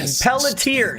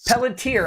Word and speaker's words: Pelletier: Justina Pelletier's Pelletier. Yes. Pelletier.